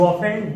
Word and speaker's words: often: ऑफ्टन, ऑफ्टन नहीं, ऑफ्टन में टी यहाँ साइलेंट है, ठीक है? क्या पढ़ेंगे इसको? ऑफ्टन। ऑफ्टन अक्सर, हमेशा, ठीक है? ठीक है, मतलब कई बार को यूज किया, यू ऑफन do this mistake, means